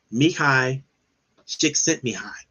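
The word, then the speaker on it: Mihaly Csikszentmihalyi: when a positive psychologist by the name of mikhai stick sent me high and that's a mouthful if you ever see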